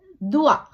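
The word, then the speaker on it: doigt: ஈ தே துஹ்வா இங்க தே அமைதியாக இருக்குது தே உச்சரிக்க படல அதேபோல துவா தே ஓ ஈ ஜே தே துவா விரல் இங்க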